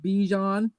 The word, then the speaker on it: Bijan: They're like think Dijon mustard, and there you go, Bijan Robinson.